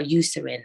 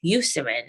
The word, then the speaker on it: Eucerin: of so the most common ones used are Eucerin and Aquaphor Eucerin is spelled e-u-c-e-r-i-n Aquaphor a-q-u-a-p-h-o-r and these two are